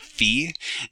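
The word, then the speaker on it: φ: them they are called it's called fee typically I'm going to use this one for the notation it's just a fee and a fee variant there are different things are there different symbols but they mean the same thing okay then okay so it's like fee fie foe fum okay there we go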